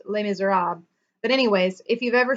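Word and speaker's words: Les Misérables: I think in French it's pronounced Les Miserables.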